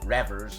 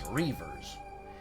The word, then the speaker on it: Reavers: of border reavers it's not revvers and it's not Rivers it's reavers and I'm and